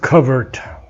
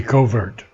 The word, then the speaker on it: covert: this word covert, English pronunciation. American would be covert.